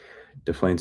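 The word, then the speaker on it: Des Plaines: restaurant in Del Plaines, d e s. It's not Del Plaines. Probably the s is silent. Del Plaines, Illinois. If you're from Illinois, tell me. I'm assuming it's silent. Like Des Moines.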